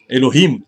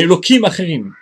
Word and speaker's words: Elohim: vous avais dit que on prononce non pas Elohim aim mais elokimim comme si c'était un nom cadoch saint parce que c'est l'arrière